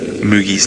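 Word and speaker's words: Mooji: So I've been pronouncing his name wrong. It's M-O-O-J-I, but pronounced Moogie.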